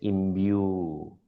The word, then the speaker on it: imbue: If it has a colon, it will be a long sound. So that is why it is pronounced as imbue.